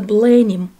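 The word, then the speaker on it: Blenheim: Это дворец Бленхейм, или по-английски произносится Бленим, родовое имение герцогов Мальборо, один из крупнейших дворцово-парковых ансамблей Англии, который расположен на окраине Вудстока в графстве Оксфордшир.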